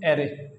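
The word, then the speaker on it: erre: आर को हम pronounce करेंगे एरे।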